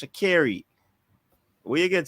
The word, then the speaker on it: Shericka: She says her name is pronounced Shakiri. That's how she said it's pronounced. Shakiri. Where you get Shak Scary?